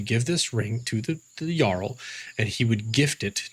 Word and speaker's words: Jarl: Jarl being, I can't really say it loudly because it's just such an Jarl, Jarl, but the RL sound is so internalized it's hard to pronounce properly.